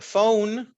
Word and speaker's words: phone: Porque phone, la E no se pronuncia.